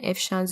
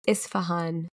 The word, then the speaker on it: Isfahan: internet addiction disorder in if Sean's University students so this if if I'm not pronouncing that correctly sorry it's Isfahan Isfahan University so Isfahan university